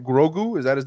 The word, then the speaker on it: Grogu: i'd like it but grogu why the g at the beginning that's his name it's two syllables it's bang bang it's easy imagine being